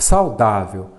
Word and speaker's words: saudável: descartamos essa alternativo é saudável é paroxítona terminada em l então vamos ver vamos separar aqui a última sílaba penúltima qual que é a sílaba tônica é a penúltima é um paroxítona é